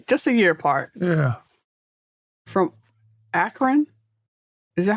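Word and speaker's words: Akron: up there okay just a yearart yeah from akan is that how you say it akan Ohio yeah akan yes akan but you know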